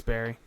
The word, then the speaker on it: Barre: I think it's Bear. It's Barry.